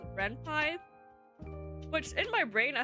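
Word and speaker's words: Ren'Py: focus on the most is a program called Renpie, which in my brain I thought it was pronounced Reny, but apparently it's pronounced Renpai.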